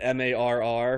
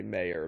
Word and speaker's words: Marr: he basically stylized that m-a-r-r right as opposed to uh m-a-h-e-r um when I see that I want to say mayor but it's it's more Mar in the pronunciation yes so that's what